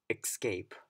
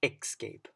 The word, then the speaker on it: escape: again this that mother father ok so another mispronounced words would be escaped its escape so it's commonly mispronounced even for native speakers so you want to remember it's es es s is escape instead of xscape escape escape so a commonly mispronounced word would